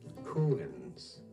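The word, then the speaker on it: Houyhnhnms: Population of rational horses called, oh boy, how do we pronounce that? How do you say it? Hooans.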